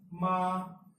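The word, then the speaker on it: 妈: If you take the word ma, now if you say ma in first tone, it's pronounced as ma.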